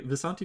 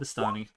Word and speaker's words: Vistani: I agree, Visanti does sound cooler, but they are actually called Vistani.